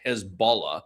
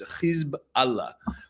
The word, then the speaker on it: Hezbollah: I don't like pronouncing it Hezbollah the way many people do in Western media. It's in fact a compound word. It's really two words, Hizb Allah, which means the party of Allah, the party of God.